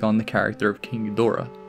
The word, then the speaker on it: Ghidorah: Take Me to Your Leader sees Doom take on the character of King Ghidorah. Ghidorah, or Ghidra as Doom pronounces it, is a recurring antagonist